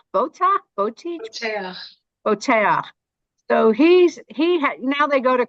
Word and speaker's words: Boteach: Is it pronounced Botiach? Boteach? Boteach.